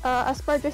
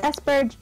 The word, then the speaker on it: Asperger: It's Asperger. I pronounce it as Asperger's. Aspergers. Well, it's actually Asperger syndrome. There's actually no S.